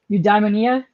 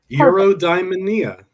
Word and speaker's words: Eudaimonia: You diamondia. Yep. Perfect. It's like Europe and diamond. Yeah, there you go. Yeah. Eurodia.